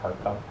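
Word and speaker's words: Hartkopp: The guy who wrote these, his name is Oliver Harkup. That's how you pronounce his last name.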